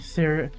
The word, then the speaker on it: Cirrus: Calm down, Cirrus. There we go, that's how it's pronounced.